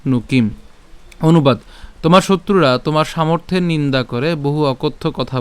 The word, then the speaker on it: সামর্থ্যং: তব নিন দন্নতস তব নিন দন্নতস তব সামর্থিয়ং সামর্থ্যং উচ্চারণটা কিভাবে সামর্থ সামর্থিয়ং তাহলে সামর্থ এই মর্থ অর্থাৎ এই রেফ এবং